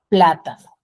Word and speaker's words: plátano: Por ejemplo, plátano. Plátano tiene la mayor fuerza de voz en la antepenúltima sílaba.